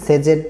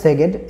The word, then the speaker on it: Szeged: আজকে হচ্ছে আমি যে বিশ্ববিদ্যালয় নিয়ে কথা বলব এটা হচ্ছে ইউনিভার্সিটি অফ সেগেড বা কেউ হচ্ছে আবার এটারে উচ্চারণ করে হচ্ছে কি সেজেড বা এরকম কিছু উচ্চারণ করে বাট ডিফারেন্ট একটা দেশের ওয়ার্ড। তো যার জন্য হচ্ছে অনেকেই মিস প্রোনাউন্স করে এটা নিয়ে কোন সমস্যা নাই।